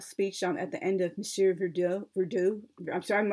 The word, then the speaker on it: Monsieur Verdoux: at the end of Monsieur Verdoux. I'm sorry, I'm mispronouncing the name, Monsieur Verdoux. I believe that's the correct pronunciation. My French isn't so perfect.